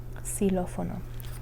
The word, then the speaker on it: xilófono: It's like almost like an S sound. So X, xilófono.